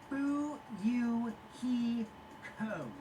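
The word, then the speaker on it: Fuyuhiko: last name is my first name is pronounced boo you he code i'm still an experienced member of my family's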